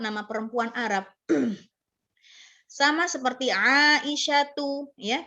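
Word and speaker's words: عائشة: Sama seperti Aisyatu, ya, kita bilangnya bukan Aisyatun, tetapi Aisyatu, ya, Fatimatu, Khadijatu, ya kan, dan lain sebagainya.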